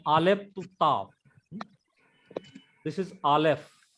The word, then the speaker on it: Aleph: This is Aleph. It is silent letter. It is like a apostrophe.